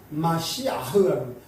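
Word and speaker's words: מָשִׁיחַ: 어 이제 메시아도 원래 그냥 발음 히브리어 발음은 어 마 마시아흐라 마시아흐 그냥 예 그러지 응 이제 그 그리스도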